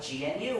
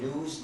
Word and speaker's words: GNU: our system and so Badoo stands for good news not units that's why it's a recursive acronym